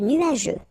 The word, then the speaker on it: nuageux: Remember, final X here not pronounced.